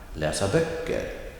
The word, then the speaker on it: läsa böcker: Remember the basic rule of a phrase and phrase, betoning. Typically, the emphasis comes on the last significant word. One more time. Läsa böcker.